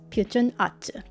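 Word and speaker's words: 퓨전 아츠: And in this video, I'll be opening up the Korean version of Fusion Arts, which in Korean is pronounced as Pyujun Atsu.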